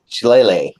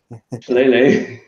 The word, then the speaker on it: Shillelagh: Shillelagh. Shillelagh. Yeah, it's hard to pronounce. Look at it, it's like, how the hell do you pronounce that?